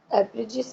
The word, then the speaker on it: abridges: और एब्रिजिस मीन्स होता है, डी साइलेंट है इसके अंदर, ABRID, एब्रिड, ABRID, एब्रिड, GES, एब्रिजिस. D silent है एब्रिजिस.